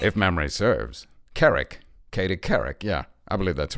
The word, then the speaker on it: Couric: It sounds, Morgan, a bit like you're saying Carrick. Uh-huh. Well, I am. That's how it's pronounced, I believe. Really? Well, because I think... If memory serves. Couric. Katie Couric.